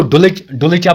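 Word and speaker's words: Dulcha: तो इसको डुल्चा बोलते हैं, मैं बोलता हूं डुल्चा, सिंपली जैसे आप प्रोनाउंस करोगे डुल्चा ज़्यादा बेटर रहता है, ठीक है।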